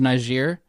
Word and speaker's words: Niger: Yes, Nigeria. Niger. It's Niger. Niger. Niger. It's French, right?